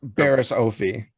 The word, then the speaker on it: Barriss Offee: Baris Ofie.